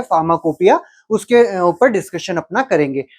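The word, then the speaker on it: pharmacopoeia: करते हैं फार्माकोपिया की तो फार्माकोपिया का स्पेलिंग पहले देखिए क्या है फार्मा कोपो इया इसको हम लोग अगर पढ़े तो फार्मा कोपो या है की स्पेलिंग आती है बट इसको हम कहते हैं फार्माकोपिया है अब ये फार्माकोपिया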